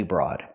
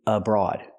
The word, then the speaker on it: abroad: say I'm doing study broad first it's study abroad we have to pronounce a word with each short a sound uh abroad study abroad and remember